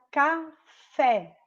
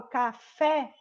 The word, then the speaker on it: café: Ó, aqui na palavra café. Lembrando, ó, o fé é a sílaba mais forte, porque é a última sílaba, então ela é uma oxítona, porque a última sílaba é a mais forte e ela termina com a letra E.